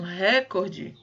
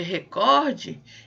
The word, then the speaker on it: recorde: Então, por exemplo, quando vocês usam recorde, ao invés de recorde, eu tenho aí um problema de prosódia.